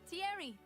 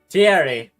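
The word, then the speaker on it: Thierry: Hey, Tierry. Tierry. That's how you say his name.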